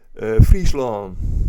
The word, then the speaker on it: Fryslân: And how do they pronounce it? Fryslân. Fryslân.